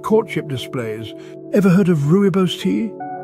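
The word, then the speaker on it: rooibos: animals carry out courtship displays ever heard of ruos tea it's spelled r o o i b oos ruos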